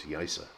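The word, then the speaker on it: Yaiza: emphasize the point that the zed becomes that kind of soft s sound i'm not a hundred percent on it but listen to canarian speaking it and you'll hear it coming out as yesa and this is the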